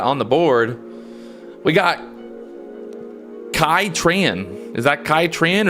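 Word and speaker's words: Qui Tran: We got Kai Tran. Is that Kai Tran or is that Quai Tran? How do you pronounce that? Q-U-I, Quai Tran.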